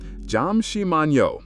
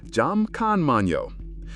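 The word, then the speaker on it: 잠시만요: The pronunciation is pretty straightforward. Jam shimmano or jam kmano. The yo at the end is the polite suffix that makes almost any Korean phrase instantly more respectful when speaking to strangers or those older than you.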